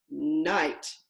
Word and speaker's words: knight: together two letters but the K is silent I do not hear it there's only one sound two letters one sound mmm and my key word is night like a knight in shining armor so let's take our